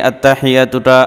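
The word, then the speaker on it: التحيات: আত্তাহিয়াতু লিল্লাহি আত্তাহিয়াতু লিল্লাহি অনেকে আত্তা লম্বা করে ফেলেন বা অন্য কোন ভুল করে থাকেন আত্তাহিয়াতু মাঝে তো এটার সঠিক উচ্চারণ হচ্ছে আত্তাহিয়াতুলিল্লাহি ওয়াস সালাওয়াতু ওয়াস সালাওয়াতু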